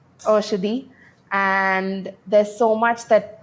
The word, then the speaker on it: Oshadi: Is that correct, the way I'm pronouncing it? Yeah, it's Oshadi. Oshadi.